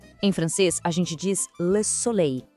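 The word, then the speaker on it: soleil: Em francês, a gente diz le solei. Esse som final, ei soa como o nosso ei.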